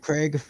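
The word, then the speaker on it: Krieg: Bengals 367 David oh Dave grake think that's how you say his name of the Seahawks and Cardinals y Craig uh yeah k r i e g cig Dave Craig yeah yep yeah he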